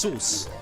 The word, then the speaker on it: SUS: is called but like it isn't actually pronounced sus it's pronounced sus like s o o s you know you're writing